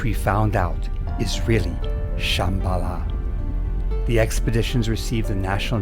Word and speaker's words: Shambhala: In Tibetan, it's pronounced Shambala. That's where your intel messed up. We in the agency believe that all this talk of a future kingdom of Shambala is a threat to our global supremacy.